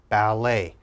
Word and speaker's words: ballet: e d e t now in french when we're speaking french t has an a sound a so let's look at the first word now we would pronounce this bal a ballet ballet and of course ballet